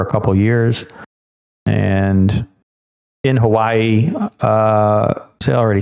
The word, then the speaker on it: Hawaii: so I do currently live in Hawaii which is the way it is properly pronounced even though though I have said it wrong for 401 and a half years Hawaii which uh you might catch me saying still but I do